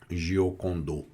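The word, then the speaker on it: Giocondo: Então ele é Lepus Damar Chan Rich apelê Francesco del Diocondo. O Diocondo em francês seria Gocondô, né?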